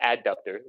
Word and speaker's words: adductor: And it it's actually pronounced adductor, but it's hard to hear if it's a abductor or adductor.